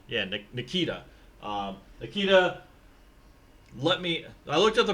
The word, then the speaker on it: Nikita: I don't know why I have Nikito. Yeah, Nikita. Nikita. I looked at the pronunciation because it was different than what I was saying.